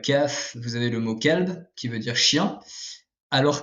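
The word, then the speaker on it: قلب: vous avez le mot Kalb qui veut dire chien alors que le mot Kalb avec un Q emphatique en car emphatique veut dire le cœur donc légère différence entre les deux mots voilà euh et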